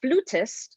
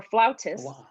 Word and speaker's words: flautist: latina astronaut she's a classical flat flutist or flautist some people pronounce it fluta some people pronounce it flautist and she is an